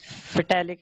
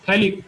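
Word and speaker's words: phthalic: फेटालिक anhydride. Very good. थैलिक, P silent होता है, इसको कहते हैं थैलिक एनहाइड्राइड।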